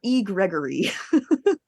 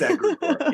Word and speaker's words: egregore: It's either egregore or E. Gregory. E. Gregory. That sounds like an e-card service. Egregore, like an egg. Okay. It's egregore.